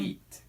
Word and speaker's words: leet: Leet. Huh? Creep Leet. That's Creep how it's Leet.